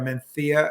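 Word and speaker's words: Mencía: though in this is menthia mencia m-e-n-c-i-a or menthea as the locals pronounce it uh you know like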